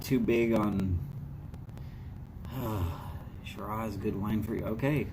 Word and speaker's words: Shiraz: bit spicy wines okay so it's sira or shira okay but it's got a z in the name so i always call it shiraz somebody wants to be